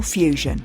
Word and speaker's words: FEWSION: their community be better informed listen to crucial Fusion for in-depth coverage and Cutting Edge findings on